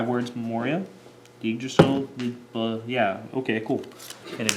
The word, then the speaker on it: Yggdrasil: Yggdrasil, yeah, okay, cool. And a Drill Sergeant. It's Yggdrasil. Was that right? Yeah, it is. It's Yggdrasil.